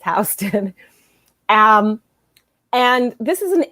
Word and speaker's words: Houston: first come to new york uh they always mispronounce the street they think it's uh called houston it's not it's houston um and this is an area of town